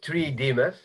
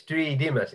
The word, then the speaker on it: Tridimas: Second, it's Tridimas. It's a Greek name. Sorry. That's okay. I don't mind that. What I do mind is that sometimes people actually misspell it as Tridimas. And I'm not a Midas.